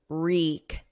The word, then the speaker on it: wreak: There's no W, it's silent. So it starts on a R, and then the vowel is E, reek.